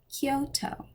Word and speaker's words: Kyoto: toe hyo not tokyo think yo dude and then add a k in front kyo tokyo kyoto about t s it's